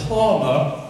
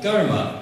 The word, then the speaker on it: karma: in reincarnation and the law of karma or GMA as it's pronounced properly and this law of